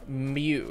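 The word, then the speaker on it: μ: oium ready to go it's a Greek letter mu you pronounce Mew it means micro here okay micro Kelvin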